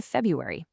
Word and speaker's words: February: Watch out for dropping that first R in February.